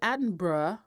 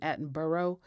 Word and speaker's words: Attenborough: that david attenborough because i'm going to say it like they say it over there because i really want to say david attenborough you know like the five boroughs of new york because that's how it's spelled but david attenborough uh